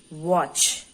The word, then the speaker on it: watch: now can we read the word t is silent okay watch and the word watch